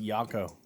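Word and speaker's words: Jocko: his voice other guy I think it's pronounced yako yeah but the whole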